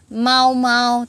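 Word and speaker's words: 毛毛: Mão này có nghĩa là lông, nhưng mà nói về tên nó không phải là đọc là lông, mà nó đọc là mau. Nói về tên thì nó đọc là mau ha.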